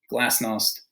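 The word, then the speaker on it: glasnost: it it's Russian but so if we get it right Gorbachev glass Knost perestroika okay I'm so Mikhail Gorbachev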